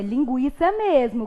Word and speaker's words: linguiça: É linguiça mesmo, como eu havia observado com vocês, mesmo havendo, né, a extinção do trema nas palavras da língua portuguesa, o U se mantém pronunciado. Então, tanto o som do G quanto o som do U são pronunciados.